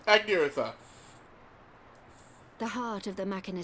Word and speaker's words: Agniratha: Yes, Agniratha, Agniratha.